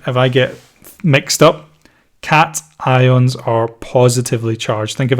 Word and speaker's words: cation: some another one here positively charged ions are called cat ions occasions depending how you want to pronounce it cat ions so positively charged ions